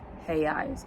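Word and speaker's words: reais: If there's an R at the beginning of a sentence, it's usually at the at the beginning of a word, then instead of it being a sound that we're used to, it's a her sound. So he eyes instead of royale and he de Janeiro instead of Rio de Janeiro.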